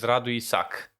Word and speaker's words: Radu Isac: So in Romanian, my whole name is Radu Isac. Radu Isac. Yeah. Okay. But you need to do the rolling of the R, the Radu.